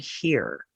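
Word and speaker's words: hir: z or here alternate pronouns that are gender-neutral pronounced see and hear they replace he and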